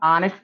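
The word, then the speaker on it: honest: राम इज एन ऑनेस्ट मैन, क्योंकि इसमें यच हमारा जो है साइलेंट वर्ड है, साइलेंट अल्फाबेट है। ये यच का उच्चारण जो है नहीं हो रहा है, केवल लिखा जा रहा है, इसलिए इसको हम ऑनेस्ट पढ़ते हैं।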